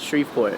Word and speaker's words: Shreveport: So you were born in, how do you say it, Shreveport? Or? Yes, Shreveport, Yeah.